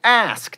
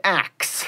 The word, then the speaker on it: ask: Etc., not etc., and ask, not axe.